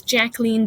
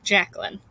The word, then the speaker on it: Jacqueline: The author is Jacqueline Davies. It's a French name, so it's kind of hard to pronounce. Jacqueline, okay, or Jacqueline, either one.